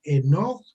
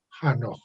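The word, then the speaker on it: Enoch: del patriarca el noc se pronuncia en off y lo más correcto jano y la del profeta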